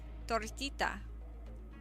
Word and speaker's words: tortita: Tortita. I feel like I roll my Rs. Okay.